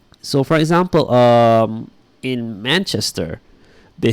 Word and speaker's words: Manchester: oh by the way it's pronounced Manchester you stress the man alright and yeah Nick